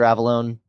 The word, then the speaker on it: Avallone: Avalone. Snapchat. I mean, just my name, Avalon. It's spelled A V- A L L O N E.